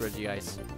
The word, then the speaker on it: Regice: weird it it's it should be pronounced Reggie ice but it says of